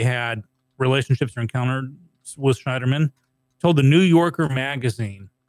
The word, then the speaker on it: Schneiderman: Well, so what happened yesterday with Eric Schneiderman, who's the New York? How you pronounce that last name?